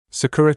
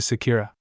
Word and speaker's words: Sakura: nice meeting you Eno nice meeting you to Sakira it's Sakura Sakura stopped in her tracks and turned back